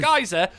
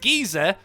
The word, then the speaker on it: geyser: shows you know so i said geyser i was corrected i know it's pronounced geezer and now i don't